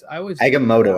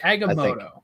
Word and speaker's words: Agamotto: Agamotto, I think. Agamotto. Yeah. Yeah, it makes it's spelled like motto, but yeah, I think they say moto.